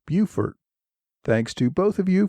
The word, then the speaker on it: Beaufort: I referred to Beaufort on Port Royal in South Carolina. Alan Rosenfeld pointed out that it is pronounced Beaufort.